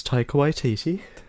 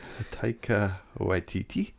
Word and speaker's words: Taika Waititi: I figure that with the director, whose name always eludes me as to how to pronounce it. I'm pretty sure it's Taika Waititi. Taika Waititi.